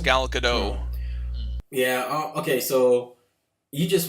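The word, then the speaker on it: Gal Gadot: gal get god oh I have heard it pronounced gal Godot yeah okay so you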